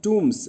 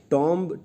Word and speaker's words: tombs: एंड if unfit for टूम्स, actually ये जो pronunciation होता है इसका ना, वो होता है TOOMS, TOMBS को प्रोनाउंस करते हैं टूम्स, या टॉम्ब, TOMB को कहते हैं टूम। टॉम्ब कहा करते थे हम, पर ये गलत इनंसिएशन होगा।